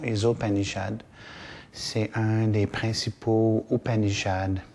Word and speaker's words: Isopanishad: petit faire un petit cours sur le texte qu'on appelle ou panichade où on prononce en contraction isopanichad.